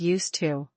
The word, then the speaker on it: used to: Listen to the pronunciation of used to. It sounds like used-to.